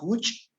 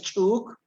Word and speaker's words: huch: Entonces, prefiero que me practiquen la palabra huch para que se queden con ese sonido que sí saben pronunciar. Huch. ¿Vale? Sí. Entonces, no me practiques chuk, practícame huch.